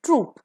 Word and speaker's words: troop: The next word pair is ट्रूप, दोनों का pronunciation same है।